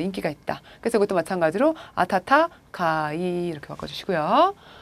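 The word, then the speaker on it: 暖かい: 그래서 여기서는 그냥 앞에 거 하나만 따와서 이게 따뜻한 온자니까 따뜻하다 어떻게 읽어요? 아타타카이 이렇게 되는 거죠.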